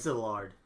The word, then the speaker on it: Szilard: It's Szilard. Yeah, they don't pronounce the Z. It's Szilard.